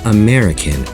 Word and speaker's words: American: of four vowel syllables only the second one is stressed American and the other three vowels are unstressed American can you hear how the stress is on the second vowel syllable mare American or any